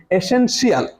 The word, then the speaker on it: essential: TIAL equal to শাল।